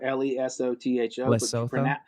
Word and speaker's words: Lesotho: pronounce the countries it's it's spelled lesotho l-e-s-o-t-h-o you pronounce it lesotho okay gotcha got you